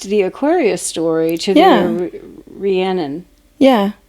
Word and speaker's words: Rhiannon: Am I saying it right now? I feel like I got to go back and look at the REE-ANN-NIN. Yeah. Rhiannon. That's like to say it phonetically correct. So Rhiannon. Rhiannon. Yeah.